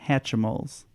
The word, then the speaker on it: Hatchimals: We were kind of fighting over what the pronunciation of this is, and we settled on Hatchimals. That's the exact pronunciation.